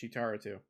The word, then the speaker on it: Cheetar02: So if you see me on Twitter at Cheetar02, pronounced Cheetaro2, that's just a picture of me from a few years ago at a Portillo's that opened up in Indianapolis.